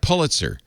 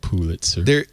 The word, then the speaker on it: Pulitzer: Well, it might be like Pulitzer. Like there's the Pulitzer. It's Pulitzer Prize, but it's Pulitzer Prize. It's Pulitzer Prize, but the Pulitzer family likes Pulitzer.